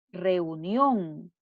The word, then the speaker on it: reunión: Otra palabra aguda, reunión. La sílaba tónica en la última sílaba, la sílaba nión, y lleva tilde porque termina en N.